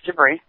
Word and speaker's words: JIBRI: Is that how you pronounce it? Correct, it's JIBRI.